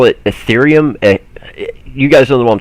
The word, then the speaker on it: Ethereum: let me be sure i say it right ethereum e-t-h-e-r-e-u-m ethereum okay so as i understand it